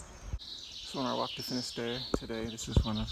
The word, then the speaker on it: Finisterre: Beautiful day here in Finisterre, however you want to say it. Finisterre is the way the locals say it.